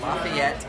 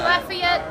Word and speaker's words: Lafayette: There's a Lafayette in Louisiana. Yeah, Louisiana. Yeah. So this one they pronounce it differently down there. They call it Lafayette. Okay. But it's Lafayette, named after the same guy.